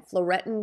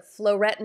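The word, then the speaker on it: phloretin: the skinceuticals flow retin it's spelled with a ph p h l o r e t i n floretin c it is a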